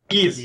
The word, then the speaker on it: Ys: Is it it's capital Y lowercase s? Ease. Is that how it's pronounced? Ease, yes, Ease. Ease.